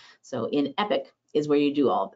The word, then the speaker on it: EPC: interface for everything now the e-rate productivity center acronym is epc but it's pronounced epic so in epic is where you do